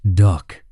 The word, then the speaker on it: DUKW: The DUKW, pronounced duck, was a six-wheel drive amphibious truck capable of 5 knots in water and 50 mph on land.